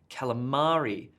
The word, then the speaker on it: calamari: here and calimary what you're gonna order a column or a salad at the restaurant no you're going to order a calamari calamari sell it and